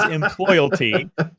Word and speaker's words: Employalty: Well, first of all, you already get 10 bonus points for pronouncing it correctly. It is Employalty.